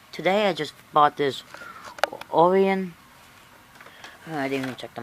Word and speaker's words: Orion: Orion, not Orion. A lot of people call the brand Orion, but it's actually pronounced Orion, like Orion. So that's how you really pronounce it.